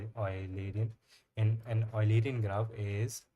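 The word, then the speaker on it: Eulerian: Unlike Oilerian graph in Oilerian I think that is the pronunciation. An ulerian graph. UAN we will call it Oilerian.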